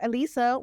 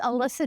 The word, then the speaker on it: Alyssa: Alisa, welcome to the O show.